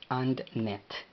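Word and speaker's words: አንድነት: A, N, la N no lleva pronunciación en el vocal. la D de doctor tampoco, entonces AND. And y luego NE. Y finaliza con una T, la cual no lleva pronunciación en el vocal. Entonces es AndNet.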